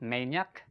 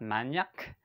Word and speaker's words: maniac: word okay the fourth word is maniac maniac it's not maniac okay it's not magnac okay maniac maniac yeah one more time